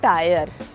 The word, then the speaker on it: tier: TIER इज नॉट टायर, इट्स टियर। टियर, र है ना, वो भी साइलेंट है। टियर, टायर नहीं। वो कटोरी होती है ना